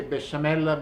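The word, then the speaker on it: béchamel: the bashal sauce Basham in Italian we say Basham because we don't have the good French pronunciation it's one of the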